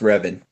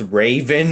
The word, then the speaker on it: Revan: group by the way my second name is pronounced ribbon oh it didn't yeah